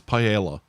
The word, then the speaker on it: paella: For Kev, that's paella. Honestly, I don't see Kev going for something as exotic as that. Kev's Kev's fish and chips. Paella is not that exotic for Kev.